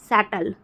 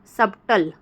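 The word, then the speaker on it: subtle: नहीं पढ़ेंगे ठीक है सटल सटल को हम जो है कि शटल शटल को हम जो है क्या नहीं पढ़ेंगे हम नहीं पढ़ेंगे सबटल ठीक है दोस्तों तो यहां पे बी साइलेंट हो जाता है डेप्ट ठीक है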